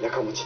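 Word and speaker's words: 家持: うです、家持ちと書いてやかもちと言います。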